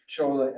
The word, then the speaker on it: Sola: Shola Adeshobi. And that's the way you pronounce it in Nigeria, by the way, right? The S is an SH. Okay, but he goes by Sola Adeso, so that's okay too.